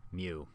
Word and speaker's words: mu: the greek letter mu spelled m u but pronounced mu so mu the population mean is about 44.52